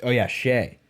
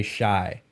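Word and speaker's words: Shai: Shea. Because throughout this season, there's still people on broadcasts and podcasts right now that say Shy.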